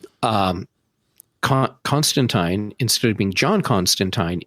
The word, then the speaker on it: Constantine: So, uh Constantine, which by the way, they're saying the name wrong on the show. they say Constantine on the show, but the character's name is Constantine.